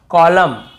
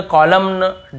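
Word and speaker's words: column: एन को नहीं पढ़ना जैसे ऑटम कॉलम डैम हाइम तो यहां पे हमें ऐसे ऑटम कॉलमन डैमन ऐसे हाइमन ऐसे नहीं पढ़ना है ठीक है क्लियर हो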